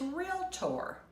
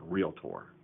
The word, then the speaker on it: realtor: The way to say it is realtor. The correct pronunciation in Virginia is realtor. I think it's the same pronunciation in North Carolina, Texas, Oklahoma, or even if you went to a foreign country, it's realtor.